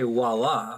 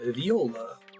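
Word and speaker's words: voilà: This guy was trying to say voila, but he said viola. Viola. It's kind of how it's spelled, but if you move the I and the O.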